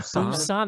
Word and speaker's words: Busan: Does anyone know how to pronounce this? Busan. Busan, they Yeah.